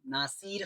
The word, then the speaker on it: Nasir: तो बहुत जने मेरे को नसीर खान, नासिर खान ये वो नामों से पुकारते। मेरा सही प्रोनाउंसिएशन है नासिर खान, NASIR, नासिर।